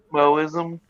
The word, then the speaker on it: Mohism: Moism, the what about the I think they just put universal the H good? there because I'm not sure if the H is supposed to be like pronounced or not. I think it's just a So just like a hyphen. No, glottal stop kind of.